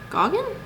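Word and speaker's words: Gauguin: close friends actually with paul goggin that's how you say his name um but uh he was actually they both painted together and they met in paris in 1887.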